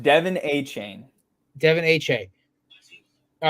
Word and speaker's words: Achane: So it's pronounced Devin Achane. Devin Achane. All right, Achane.